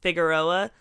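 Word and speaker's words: Figueroa: that I cannot mention I cannot pronounce the word figeroa in English it's a it's a pretty big Street in La figuroa for people that are white speak English that's how we say it you know the white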